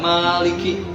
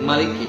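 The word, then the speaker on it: مالك: Nah, ini membahas tentang ada yang bacanya panjang Maliki, ada yang bacanya pendek Maliki. Tapi keduanya adalah sahih.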